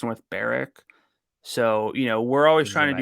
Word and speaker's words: North Berwick: Also, it's in what looks like North Berwick, but it's North Berwick.